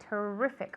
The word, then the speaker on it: terrific: Okay, the intonation is on the E. Terrific on the E, not on the I.